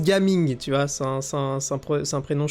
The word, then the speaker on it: Gaming: Alors, ça se prononce Gaming, tu vois, c'est un prénom chinois.